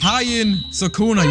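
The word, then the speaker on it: Heian Sukuna: Hien Sukuna, yes, I've said the pronunciation right.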